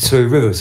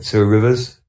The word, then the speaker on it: Two Rivers: You are going into Two Rivers, I think. Yes. I'm pronouncing that wrong, I know. It's more like Two Rivers.